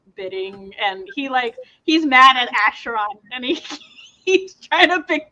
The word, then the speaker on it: Acheron: And but the closest is like Charon, like the fairy man, Charon, because they're basically spelled the same.